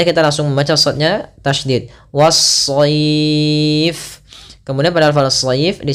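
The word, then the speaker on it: والصيف: Kemudian was-sayf, was-sayf. Kemudian pada lafal as-sayf kembali sama ada alif lam yang kita tulis tapi kita tidak baca, sehingga langsung kita idghamkan ke huruf shad.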